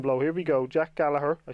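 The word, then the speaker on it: Gallagher: that comment section below here we go Jack Gallaher I said it right this time in the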